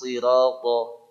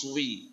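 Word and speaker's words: الصراط: Terutama pada kalimat ihdinas sirata pada Al-Fatihah ya. Karena banyak ihdinas swi, jadi swi. Ya, swi bukan sri ya. Nah, itu sod ya. Intinya sod itu sin diucapkan tidak monyong.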